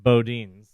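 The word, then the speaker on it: Boudin: also said he pron he believed it's pronounced Bodin yeah I had completely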